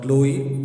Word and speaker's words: Chloe: teased by her friend, and CH sound was cha, but in her name everyone used to call her Chloe. The pronunciation was K.